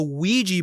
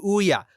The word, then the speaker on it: Ouija: First off, even though I know it's a Ouija board, my brain just goes to Ouya. Why Ouija if Ouya shaped?